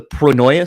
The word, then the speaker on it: Pronoia: interesting and and do you say it the pronoia sessions is that how you say it yeah